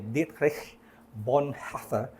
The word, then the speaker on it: Dietrich Bonhoeffer: Sabi nga ni Dietrich Bonhoeffer, mahirap i-pronounce yun kung sa German actually ay Dietrich Bonhoeffer.